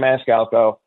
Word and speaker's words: Maniscalco: so but um yeah Sebastian Maniscalco that's how you say it and it is a